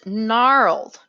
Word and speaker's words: gnarled: means and murky and gnarled notice the g is silent g n together usually says this is a challenge